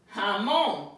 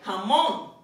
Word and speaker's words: jamón: Jamón. It ends in an S. It would have been jamón. But it's so, if that we don't pronounce it that way, jamón.